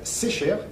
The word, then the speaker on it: Secher: On dit Secher, pardon, faut pas que je me trompe. Bonjour. Oui, bonjour, c'est un nom breton et j'y tiens à cette Voilà. prononciation. Oui. On s'est déjà eu plusieurs fois au téléphone et donc en effet vous m'avez dit Secher.